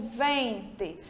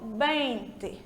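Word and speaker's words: veinte: o que em espanhol a letra V se pronuncia como nosso bebê então eu não digo Vent eu digo bem tá certo aí a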